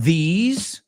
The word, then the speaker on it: these: And these rhymes with peas, guisantes, okay? Also rhymes with he's a great guy.